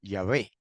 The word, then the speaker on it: Yahvé: Yahweh de los ejércitos. También puede pronunciar Yahvé.